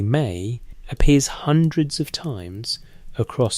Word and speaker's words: me: The word me pronounced approximately may appears hundreds of times across Sumerian literature.